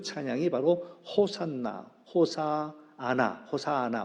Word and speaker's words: 호산나: 했던 그 찬양이 바로 호산나 호사 아나 호사나 원래 이제 히브리 얘기하는 건 호시 아나라 발음한다고 하는데 우리 발 우리 번역은 호산나를 되어 있지요 하나님 지금 우리를 살려